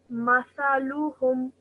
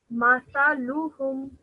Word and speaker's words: مثلهم: Just make sure, say it like this. Mathaluhum. مثلهم. Mathaluhum. مثلهم. Excellent. Well done. Okay. Because both the meme and the tha have only simple fatha, so that's why we're